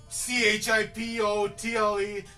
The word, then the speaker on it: Chipotle: at the end okay Chipotle another one Chipotle tle at the end why is it tle at the end because you don't say chipot it's not a tricky